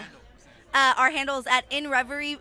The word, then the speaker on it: Inrvry: Amazon music uh hand uh our handle at in Ry it's pron it's spelled different I it's spelled like this i